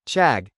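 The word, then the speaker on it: 책: It's like asking how you would tell the difference between English, Czech, and Korean, chag, which is pronounced like Czech and means book.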